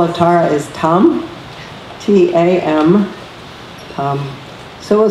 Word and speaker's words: tam: And the seed syllable of Tara is tam, T-A-M, tam.